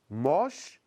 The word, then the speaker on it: moche: Moche no se cambia. Presta atención. Les adjectifs mince, jeune, moche ont un E qui ne se prononce pas.